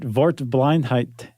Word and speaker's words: Wortblindheit: You said that it's a W, right? Yeah. And you said it is a V.